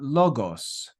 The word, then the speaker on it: logos: s so we've got logos logos and you can hear the stress on that first Omicron where we have the accent mark logos logos so we've got our